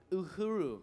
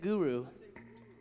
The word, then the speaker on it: Uhuru: Black Uhuru. But Marcus said, you said Guru.